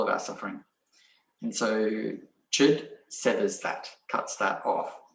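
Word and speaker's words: Chöd: then she started um practicing chid which is spelt c-h-o-d which means severance or to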